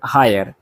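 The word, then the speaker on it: heir: देखिए hour, honest और हायर, ये तीनों जो है शुरुआत का एच साइलेंट होता है और शब्द का उच्चारण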